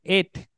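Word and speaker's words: את: B baf Alex y que se pronuncia de et y en el significado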